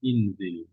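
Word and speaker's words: انزل: Kalau yanzilu tadi huruf zal zai baris bawah jadi bacanya inzil.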